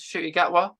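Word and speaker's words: Ncuti Gatwa: Um, like Instagram, for example, the new doctor, is Shooty Gatwa. That's how you pronounce it. Yeah, I can't. um, I'll work on that. I'll work on that. just like don't include the N. It's like silent.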